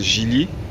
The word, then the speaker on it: Geely: est sur un Gili ça se prononce Gili là tu pourras pas